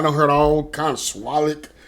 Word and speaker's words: SWUTLAK: I'm telling you, I done heard all kind of SWUTLAK. I heard somebody put an R in there somewhere.